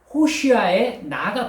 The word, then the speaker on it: 호산나: 여러분 호산나 반복되고 있죠 호산나 무슨 뜻입니까 호산나 지금 구원해 주소서 뜻이에요 원래 발음을 제대로 해보면 호슈아 나입니다 호시아 나 여러분 호슈아 나가 붙어 있는 겁니다 나는요 지금이란 뜻입니다 호아는